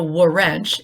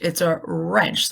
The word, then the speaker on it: wrench: that the W right it's not a war wrench it's a wrench that the W is silent so when we have W are together the W silent but we hear the R so it sounds like her now although we don't